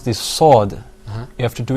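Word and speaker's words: ص: basically, when you're pronouncing the sod, you're going to purse your lips a little bit Yeah.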